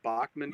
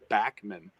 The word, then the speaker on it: Bachman: like I was archiving what I called Bachman Turner overdrive for deck I know it's Backman it's back when I